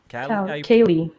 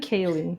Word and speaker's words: Kaley: oh I'm sorry Eric I hate how you pronounce here your little of your she attack frantic kyle i calli Kayle Kayle yeah I didn't Kaley is Kaley okay tell you what Kaley Cuoco